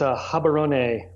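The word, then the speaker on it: Gaborone: of mess that up give us the right pronunciation if you would yeah you bet it's a hobby Ronay Botswana and if you want to feel like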